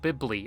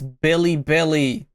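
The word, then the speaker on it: Bilibili: Firstly, this is on a platform called Bibi, a Chinese version of YouTube. It's Billy Billy. I hate when people mispronounce that It's not that hard, bro.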